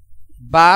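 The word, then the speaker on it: باء: ঠোঁট একসাথে লাগবে না বা উচ্চারণ স্বাভাবিক অবস্থায় মিলানো ঠোঁট খুলে দিয়ে বা উচ্চারণ করতে হয় যেমন বা মনে প্রথমে দুই ঠোঁট মিলবে এরপরে হালকাভাবে উচ্চারণ হবে বা বা এবং তা এক আলিফ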